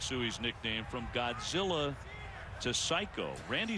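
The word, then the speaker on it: saiko: the answer was Psycho which is pronounced psycho but it it's actually spelled in Japanese s a i KO Randy said later I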